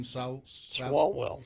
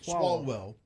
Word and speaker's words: Swalwell: Swalwell. Swalwell.